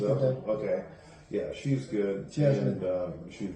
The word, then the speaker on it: Gadot: Gal Gadot. Gadot. I think it's Gadot.